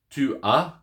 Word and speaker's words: tu as: So, for example, you have j'ai, which is I have, tu as, thou hast, or you have, il a, he has. So that S on tu as is silent. So a and a sound the same, okay?